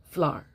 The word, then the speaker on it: flour: This is 1 syllable, flour.